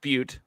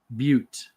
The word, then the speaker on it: Butte: I'm going to mispronounce this probably, but it's the Deschutes Brewery Black Butt Porter. Deschutes Black Butte. Butte.